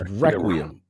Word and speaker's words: Requiem: It's Requiem.